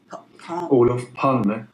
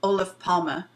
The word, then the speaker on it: Olof Palme: Olof Palme. Olof Palme, and which was the Swedish Prime Minister, correct?